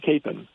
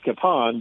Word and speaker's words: Kapaun: the high school and he pronounced it capen and it stuck. No way is really so cap. Uh, and I talked to his brother, uh, his brother Eugene, and I asked him once how it was supposed to be pronounced, and he said, "Well, it's really supposed to be pronounced Kapan, but he said the